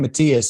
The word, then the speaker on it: Mathias: whenever I bring up your name Matthias or Matthias I tell him it's freaking Matthias and I'll punch him if they say anything else is that right